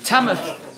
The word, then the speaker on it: Tamworth: Tamworth. I've got to forget that there's a W there. Is that right? Forget the W. Silent W.